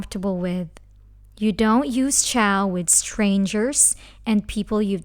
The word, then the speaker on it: ciao: Ciao is like the word chow fun, so it's easy.